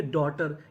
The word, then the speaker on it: daughter: जैसे DAUGHTER, इसे पढ़ेंगे डॉटर। यहाँ पे जो यूजीएच है ये हमारा साइलेंट रहेगा।